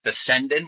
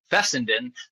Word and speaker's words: Fessenden: recently heard is that he actually prefers it to be pronounced Fessenden with the accent on the second syllable, and I didn't know this because for 20 years I've been saying Fessenden like Fassbender.